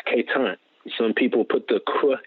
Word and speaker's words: Quetant: that it's so qu ETA and see it's K time some people put the crook in the beginning